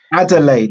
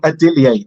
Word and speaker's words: Adeleye: got the vacant Commonwealth so adelay not adier that's one it's a